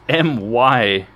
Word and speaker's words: Miya: It's Miyah, not Maya. Maya.